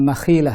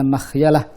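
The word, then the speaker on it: مخيلة: Ada yang bacanya minal makhilah, yang benar adalah minal makhyalah.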